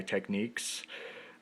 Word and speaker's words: Technics: the 80s SLP 150 by techniques uh if you prefer that pronunciation uh they can also be called Technics but I I don't